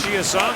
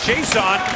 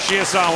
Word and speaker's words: Chiasson: Alex Chiasson gets spun around in behind the Nashville goal. He was Chiasson in Dallas, but has asked for the francophone pronunciation.